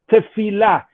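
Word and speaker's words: תפילה: the word for prayer in hebrew which is pronounced tefillah basically means to connect with god to connect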